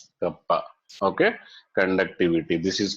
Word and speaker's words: kappa: Conductivity is denoted with K, kappa. Okay. Conductivity. This is called pronounced as kappa.